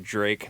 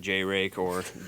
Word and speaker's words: Jrake: that's how it's pronounced I promise you it's pronounced Drake not J Racor Drake click the rapper you guys would be surprised